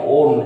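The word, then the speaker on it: -one: নাম শেষ হয় ওন দিয়ে, ONU, 1 এর মতো হলেও নাম আমরা ওন এইরকম উচ্চারণ করি।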